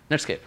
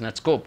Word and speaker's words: Netscape: dominant and is a Netscape and when I say Netscape I mean sometimes I mispronounced it as netskope which is more dominant these days but Netscape essentially their